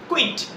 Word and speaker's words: quit: letter নেই right তো কিউ ইউ আই টি এটা উচ্চারণ হবে কুইট কুইট বুঝতে পারলে দেখো